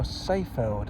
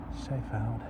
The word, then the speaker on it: Seefeld: One last look at Seefeld, or Seefeld as it should be pronounced. Seefeld.